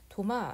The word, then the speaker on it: 도마: 토마스라는 세례명을 가지고 있고요 도마 안중근이라고 얘기합니다 토마스를 도마라고 발음하는 거죠 그리고 여기 지금 보시면